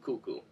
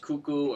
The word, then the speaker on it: kuku: you go that was a quick rundown of cuckoo you can find tons of videos online of